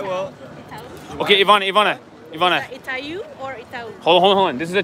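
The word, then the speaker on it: Itaú: The accent on the U is going up, which means it's Itau.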